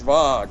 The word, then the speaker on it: Schwag: It's a German word that means humility, and it's pronounced Schwag, really.